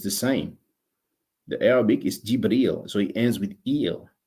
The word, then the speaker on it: Jibril: that there's a demonstration we say in english gabriel but in arabic it's pronounced jibril it ends with the